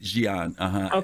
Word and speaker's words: Gian: G, like G, like XIG, Gian. Okay, like Gian. the Asian. Yeah, there you go. That's the way it's pronounced.